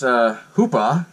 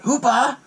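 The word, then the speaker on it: Hooper: he goes and takes Hoopah, I'm going to say it like Quint, Hoopah, he takes him to the autopsy scene.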